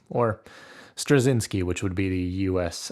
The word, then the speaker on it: Straczynski: Amazing Spider-Man Omnibus volume one by J Michael strachinski or strzinski which would be the US uh pronunciation so my first thought when cracking this